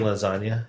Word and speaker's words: lasagna: So do you pronounce the G in lasagna? No.